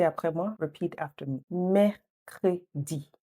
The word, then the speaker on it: Mercredi: Now, this one's a bit tricky, like 3 syllables, but don't worry, just répétez après moi. Repeat after me. Mercredi. Mercredi.